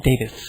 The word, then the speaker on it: Davies: was was Howard Davies I'm pretty sure it's it's spelled Davies but the way the English pronounce it it's Davis I that's what's his